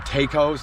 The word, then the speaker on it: Taco: I believe they call them Tacos, not tacos. It's T-A-C-O, but I believe it's pronounced Taco.